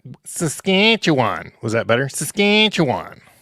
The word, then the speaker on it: Saskatchewan: Saskatchewan. Was that better? Saskatchewan. The cat chews on.